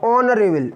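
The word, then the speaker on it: honourable: मैंने बोला अगर एच के बाद क्या आ जाए, एच के बाद ओ आ जाए तो एच साइलेंट होगा। ऑनरेबल, ऑनरेबल, ऑनरेबल, ओ का साउंड आ रहा है ना, तो क्या भरा जाएगा?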